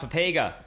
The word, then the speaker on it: Pepega: It's pronounced pepega.